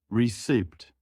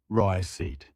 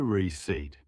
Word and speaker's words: receipt: Wrong, receipt. Correct, receipt. The P is silent. Say receipt.